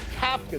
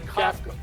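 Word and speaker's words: Kafka: Coming up is Mike Capa. That's how it's pronounced. It's not cafka getting a fair test to get the Giants full-time job.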